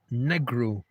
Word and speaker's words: Negro: Spanish people run into this problem all the time with their word for black. Negro. But, and it is pronounced ne, not ni.